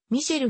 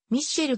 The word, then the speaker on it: Michel: 知られている名前の発音はフランスもではミシェルに近いが日本では長年ミッシェルと呼びならわされているために項目名